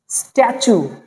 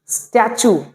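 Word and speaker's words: statue: ইউ এটা হবে সু টি ইউ থেকে চু উচ্চারণ হয় অনেক সময় এটা আমরা দেখতে পাই যেমন আমরা দেখতে পাই এস টি এ টি ইউ স্ট্যাচু এস টি এ টি ইউ স্ট্যাচু পড়তে দেখলেন তো স্ট্যাচু এভাবে আমরা ইংরেজিতে অনেক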